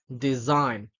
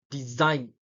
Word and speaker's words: design: is a sign champagne design gnome so you're not saying it like s sh design and gome no not like that so we have to